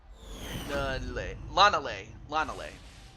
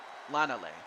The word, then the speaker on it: Lanale: Pronounces Lanale. Okay, Lanale, that's how it's pronounced. Okay, I'm sorry. Lanale.